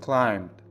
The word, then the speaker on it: climbed: دقت کنید نحوه تلفظ کلمه climb بدون تلفظ بی هست. میگیم climbed. climbed. بی رو اصلا تلفظ نمی کنیم.